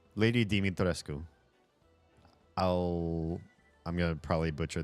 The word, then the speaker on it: Dimitrescu: Her last name is Dumitrescu, right? If I remember correctly. Let me double check on that. Lady. Is it Domi or is it Dimi? Dimi. Lady Dimitrescu.